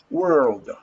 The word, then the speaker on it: world: i pronounce this please world world gamble world world world you have to round your tongue back world world i know